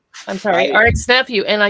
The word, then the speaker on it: RXK Nephew: I'm gonna um message rxk nephew I'm sorry RX nephew and I you know the K is silent and I keep saying rxk and I'm a dummy